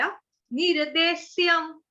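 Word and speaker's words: अनिर्देश्यम्: अनिर्देश्यम – यह 'सूरज' से 's' नहीं है, यह 'शालगम' (sh) से 'sh' है, आधा ' sh' के रूप में।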